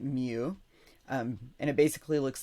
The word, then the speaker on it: mu: We pronounce it mu.